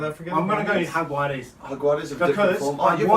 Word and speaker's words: Jaguares: Brumbies Jaguars. Do you pronounce it Jaguares? Yeah. You like Jaguares? I heard Greg Clark, when he commentates, he calls them the Jaguars.